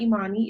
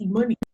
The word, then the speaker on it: Imani: y'all say my name it's not Imani it's e money okay alright they give